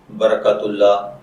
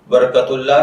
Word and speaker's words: برکت اللہ: बरकतुल्लाह की उर्दू इमला में जो हर्फ इस्तेमाल होते हैं वह हैं बेज़बर बर, काफ ज़बर तिकत बरकत और आगे अल्लाह, अलिफ लाम लाम और ए, जबकि इंग्लिश में इसकी स्पेलिंग BARAKATULLAH के साथ किए जाते हैं।